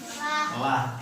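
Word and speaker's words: الله: Harus tipis ke lafaz lah, L A H, yang tadi L O H yang ditafkhim ya. Kalau sekarang L A H atau lafaz lah ya.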